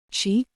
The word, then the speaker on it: Shi: Shi, pronounced like she, which connects the whole body.